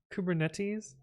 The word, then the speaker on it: Kubernetes: Like Socrates, Kubernetes. That's how you're supposed to pronounce it. That's the correct pronunciation, Elfinrod.